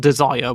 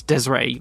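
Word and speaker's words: Desiré Wilson: Wilson is how you say it not not desire which I used to thought it was or Desiree it's Desiree Wilson Justin Wilson Vic Wilson uh Yim vinkle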